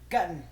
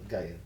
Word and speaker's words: Guyton: gonna take Tyler Gutton. Guyton. Like, Gutted.